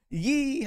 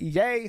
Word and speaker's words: Ye: we got Ethan Ralph ye or sorry I have to if I want to do that Ethan Raffles I have to say it correctly yay said put some respect